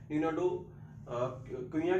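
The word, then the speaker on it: Nuno da Cunha: हो सकती है, लेकिन जो पुर्तगीज के हिसाब से इसकी जो प्रोनाउंसिएशन है मैं वही आपके सामने बोल रहा हूँ। इसकी प्रोनाउंसिएशन नीनो डो कुइया के नाम से इनको जाना जाता था, नीनो डो कुइया।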